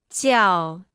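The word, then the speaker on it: 叫: repita en voz alta ciao ciao ciao ciao ciao ciao ciao se pronuncia con el cuarto tono puedes intuir como decir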